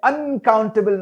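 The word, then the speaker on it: uncountable: रही बात अनकाउंटेबल nouns की, देखिए मैंने अनकाउंटेबल नाउन नहीं कहा, मैंने अन को हल्का सा प्रोनाउंस किया, काउंट को खींच करके प्रोनाउंस किया क्योंकि स्ट्रेस वहां पड़ती है।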